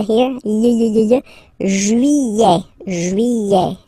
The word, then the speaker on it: juillet: Juillet, okay, you get this double L here, juillet, juillet, juillet, don't pronounce this final T, E-T here at the end, E, juillet, juillet, it's July.